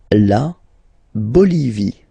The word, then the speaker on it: Bolivie: La Bolivie. Okay, final not pronounced.